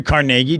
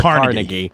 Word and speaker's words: Carnegie: Has the big hall named after him in New York, and they mispronounce it on purpose because they're so highfalutin in New York. Carnegie. Yeah, it's Carnegie. They're ridiculous.